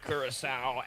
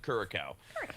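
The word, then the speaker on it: Curaçao: You got Curacao at the Ivory Coast to start things off, or you could pronounce it Curacao.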